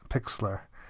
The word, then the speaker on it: Pixlr: thumbnail creation and then the last one is Pixlr I think that's that's how you say it